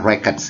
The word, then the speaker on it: records: Ini historical records, ya kata ini bacanya records ya kawan-kawan. Kenapa? Karena ini kata benda. Beda dengan kata kerja. Kalau kata kerja dibaca dengan record. Contohnya misalnya, I will record the video, gitu ya. Tapi kalau sudah menjadi kata benda dibaca dengan records.